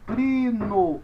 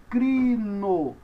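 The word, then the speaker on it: κρίνω: Capa, ro, iota. Da mesma forma que você tendo em português um K, um R e um I, você pronuncia cri. Aqui também você tem o capa, o ro e o iota, você pronuncia cri. E aí você tem crino, no, som de N, ômega O. Então, crino, crino.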